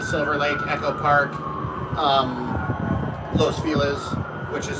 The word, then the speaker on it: Los Feliz: Um, Los Felis, which is spelled Los Feliz, F E L I Z.